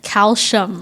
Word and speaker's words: calcium: Wait, you also say like calcium, right? Do you say calcium? Yeah. What's the actual Isn't like it calcium? Like everyone calcium. says calcium. It's CI, not SH, but we pronounce it like SH.